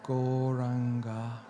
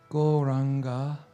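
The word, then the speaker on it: Gauranga: to add the Mantra goranga to our practice churning that to a proper meditation technique a complete technique goranga this wonderful Mantra has four syllables on God so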